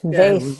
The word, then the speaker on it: Vaeth: Vaeth. Yeah. I always tell people rhymes with faith.